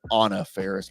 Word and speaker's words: Faris: Over Anna Faris. Actually, I believe she pronounces it Anna Faris, but I have a hard time doing that. Mm-hmm.